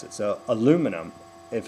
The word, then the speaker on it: aluminium: stress of syllable uh take a word one of your favorite words aluminum uh yes it's spelled differently at the end but that is not a vowel difference in aluminum it is a stress of syllable difference you guys hit one and three aluminium we hit two aluminum so the the stress of